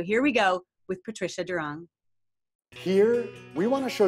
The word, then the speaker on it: Doiron: the spelling of it it's a French name but in English it's pronounced during and Patricia I am